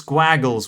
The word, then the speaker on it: Gwagle: And the Welsh translation of like gap is it's Gwagles without the S, but it's pronounced like Gwagle.